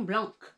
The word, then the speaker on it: blanc: you try the Sauvignon Blanc? And my ears like almost are hurting because we don't pronounce that C at the end of blanc.